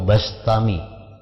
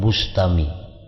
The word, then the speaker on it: Bistami: terpandang dari penduduk negeri bistam ia tidak pernah berpisah dari majelis Abu Yazid albistami atau albastami membacanya ya bistami atau bastami ya jangan Bustami jadi Bi atau ba